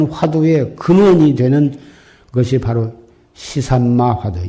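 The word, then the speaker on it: 是甚麼: 근원이 되는 것이 바로 시삼마 화두, 이 무엇고다, 이 무엇고. 한문으로 하면 시신마 그러기도 하고 시삼마하고, 중국 발음으로는 시스마.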